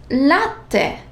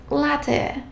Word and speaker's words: latte: Whenever you see the double letters, make sure that you pronounce both letters, such as lettere, caffè, double F, so I have to pronounce both. Caffè, bella, latte, not latte, cappuccino, not cappuccino.